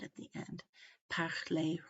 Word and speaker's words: parler: If they end in an ER, an EZ, or an ET, which is basically an E with a silent consonant after it, but not including plural S, okay? Not including S's, but these, especially these three consonants, then the word is usually a long A sound, such as regarder, parler, ballet.